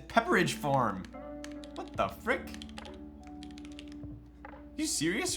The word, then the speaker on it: Pepperidge Farm: Petridge Farm remembers. Did you just call it Petridge Farm? I'm almost fairly certain that's not how it's spelled. Is it really Petridge Farm? Petridge? It's Pepperidge Farm.